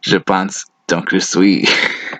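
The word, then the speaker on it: Je pense, donc je suis: Descartes wrote, "Je pense donc je suis." It's pronounced, "Je pense donc je suis."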